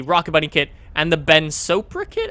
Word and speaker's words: Ben Sopra: bunny kit and the Ben sopra kit apparently is how you pronounce it not spora sopra there you go um